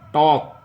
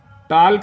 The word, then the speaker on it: talk: एल और के बीच में देखिए कोई वाविल आया है, नहीं आया ना, तो इसको हम क्या बोलते हैं, टॉक। क्या बोलते हैं, टॉक। टाल्क नहीं पढ़ते हैं, अगर कोई टाल्क पढ़ रहा है तो गलत है।